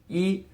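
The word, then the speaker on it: 一: is the number one yes in Chinese one pronounced E is just one horizontal stroke and while we're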